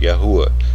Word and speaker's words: Yahuah: I use this name, or the English spelling of how it is pronounced, Yahuah, to be as accurate as I can be in the English language.